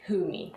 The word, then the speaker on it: Fumi: It's more like WH, so it's like Humi.